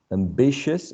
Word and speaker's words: ambitious: not in this case let's reduce this whole syllable to schwa ambitious again ambitious cautious gracious nutritious pretentious remember it's a very relaxed mid-central vowel sound okay and the last